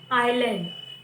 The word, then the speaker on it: island: The next is island. I have yesterday also I have told you the spelling of island is ISLAND, but here S is silent.